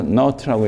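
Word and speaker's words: naught: 여기서 1 마이너스 베타분의 1 하고 괄호 안에 전부 이게 기본 소비에 해당되는 C not 0이라고 읽지 않고 not라고 읽어요.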